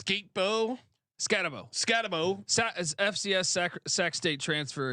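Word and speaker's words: Skattebo: How do you pronounce Skatebo? Scatabo.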